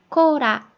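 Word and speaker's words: コーラ: 그 다음에 코라, 코라, 콜라예요.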